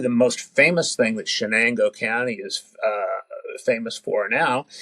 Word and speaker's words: Chenango: So it's pronounced Chenango, like it's SH. Chenango.